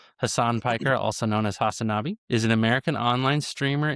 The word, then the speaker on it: Hasanabi: It's Hasanabi. Hasanabi. Okay, perfect. All right, yeah. Hasan Piker, also known as Hasanabi, is an American online streamer, influencer, and left-wing political commentator.